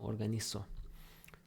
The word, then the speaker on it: organizo: You take away the AR, you add the O, organizo. Organization, organización, organizar. But trying to keep up with the Spanish pronunciation, that Z there is going to be pronounced th. Organizo in Spain.